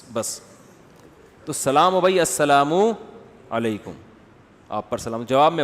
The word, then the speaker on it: السلام علیکم: علیکم اور صلی اللہ علیہ وسلم کا صحیح تلفظ بتا دیں. السلام علیکم کا ہے السلام علیکم, جو آج کل لوگوں نے ساشے پیش کر رہے ہیں سلام, السلام علیکم, ایسے سلام ہو رہا ہے السلام علیکم.